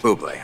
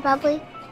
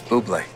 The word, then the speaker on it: Bublé: that's a bubbly she's right michael buble it's pronounced boobly i know thanks davey can i have your autograph mr bubbly it's boobly buble sparkling water crack a smile michael don't